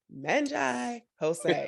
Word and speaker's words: Manjai Hosang: say his name right and his name is pronounced manga jose i was like yes ma'am and i did